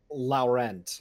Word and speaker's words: Laurent: How do you pronounce this last name? Laurent. Laurent.